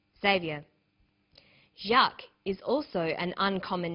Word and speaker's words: Jacques: get used to spelling out your name xavier is spelt like this x a v i e r xavier jacques is also an uncommon name in english because